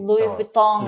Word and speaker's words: Louis Vuitton: Karena dia Belakangnya ada N. N itu biasa I dengan N dicampur jadi gitu. Louis Vuitton. Louis Vuitton.